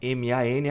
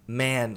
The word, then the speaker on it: man: A pronúncia de homem, que é M-A-N, é man, som longo de E, como se estivesse empurrando esse E para frente, man.